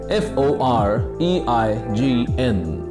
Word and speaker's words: foreign: a symbol it's a symbol and number five f o r e i g n how do we pronounce this word we pronounce this word as